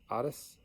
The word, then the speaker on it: Otis: Duncan wants to give a huge shout out to Annette Aunties, rhymes with goddess, Otis.